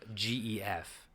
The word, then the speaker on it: Gef: This is Gef, G-E-F. G-E-F. It is pronounced Gef, though. Gef. Yes. It's not Jeff, it's Gef.